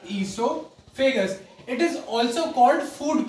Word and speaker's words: oesophagus: इसके अंदर हमारा ओ जो होता है पहला वाला वो साइलेंट होता है, तो हम इसको पढ़ते हैं ईसोफेगस।